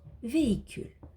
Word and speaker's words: véhicule: Dehors, véhicule. Le H ne fait pas de bruit, il est aussi muet ici.